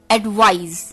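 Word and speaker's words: advise: का वो है एडवाइस, एडवाइज, एडवाइस, एडवाइस। जी हाँ दोस्तों, प्रोनाउंसिएशन को भी ध्यान से सुनिए। एडवाइस, एडवाइज, एडवाइस, एडवाइज। एडवाइस noun है, एडवाइज वर्ब है।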